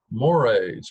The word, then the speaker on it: mores: which societies are structured mores pronounced like the Moray Eel moral views and principles these are more important norms typically mores can blend into its